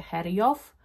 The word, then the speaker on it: Xerjoff: Sprawdziłam, jak się tę markę czyta, żeby sobie nie wymyślać już i nie tworzyć nowych słów, więc jestem pewna, że tę markę czyta się Heriow, więc mam ten zapach.